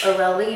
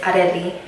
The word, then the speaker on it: Areli: It's Areli in English, but in Spanish, which I prefer, is Areli.